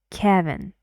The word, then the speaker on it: Kevin: 2 syllables. and the stress is on the first, Kevin, and one sound.